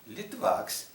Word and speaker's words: Litvak: They changed accent. Instead of putting accent on the last syllable, they moved it on the first syllable. Litvak, Litvak. You see the difference.